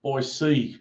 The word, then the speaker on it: Boise: the song Boise, not Boise.